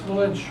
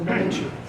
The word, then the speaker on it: malinche: Xiphophorus malinche, or malinche, depending on your pronunciation.